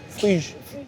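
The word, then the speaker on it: Phryges: Okay, P, silent P, H, R, Y, G, E, S.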